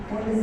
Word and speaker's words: Pfund: बॉन्ड series यहाँ पर silent है, PFUND बॉन्ड सीरीज।